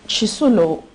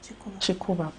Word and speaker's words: Chikuba: Madam Chisulo, pardon me, have I pronounced your name correctly? Chikuba.